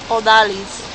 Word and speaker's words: Odalis: Odalis. Odallis.